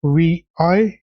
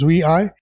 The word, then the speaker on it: vi: this chapter will'll delve into V pronounced as VI I'm pronouncing it incorrectly so it is VI a fundamental program in the Unix tradition Pi